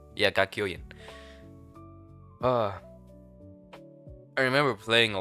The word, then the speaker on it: Kakyoin: How do you pronounce Kakyoin? Kakyoin. Yeah, Kakyoin.